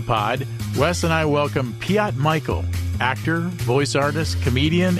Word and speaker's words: Piotr: fantastic Fantastical hey uh the pronunciation of your name is Piat correct is the uh the Polish pronunciation the proper way to say it there's a slight Trill on the r but you could say it fast and you can skip the r it's fine um yeah